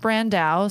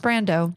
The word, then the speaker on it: Brando: It's It looks like Brandau. Sounds like I'm pronouncing it wrong, but it's pronounced Brando like Marlin.